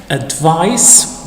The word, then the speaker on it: advice: Advice, when written with C, it's pronounced, as it is in here, it's pronounced advice with S, with the sound S, and it's the noun.